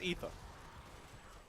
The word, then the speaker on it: Aether: Going for the Aether Walker. Sorry, Ether Walker. I always pronounce that wrong. It is Ether. I believe.